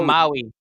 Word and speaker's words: Maui: The town in Mali you're running in, is it called Mali itself on the Big Island? Oh, Maui. Maui. Oh, Maui. Maui. Okay. Not Molly.